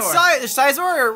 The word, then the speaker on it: Scizor: He got Scizor, or how do you pronounce it?